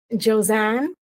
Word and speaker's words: Josanne: tell me your name again how do I pronounce it josanne so my name is josanne okay and where are you from so